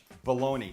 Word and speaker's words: bologna: cooking guy welcome back I promise that baloney even though it's spelled B o logn a why do we say baloney who says Bologna maybe these guys do